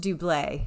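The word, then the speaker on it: doublé: finally made it out it is am doublet spelled double pronounced doublet so this was a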